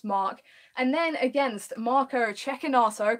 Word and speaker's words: Cecchinato: And then against Marco Cecchinato, correct pronunciation.